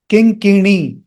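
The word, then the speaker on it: किङ्किणी: Om piñcha, piñcha, kuṇḍala-mañjīra, mañjīra, vaṁśikā, vaṁśikā, kiṅkiṇī, kiṅkiṇī, kiṅkiṇī. Note that na is retroflex.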